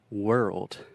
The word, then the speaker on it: world: So the word world. Então a palavra mundo. This is difficult because we have the R sound, were, and we also have that tricky RL combination that can be really difficult for Brazilians.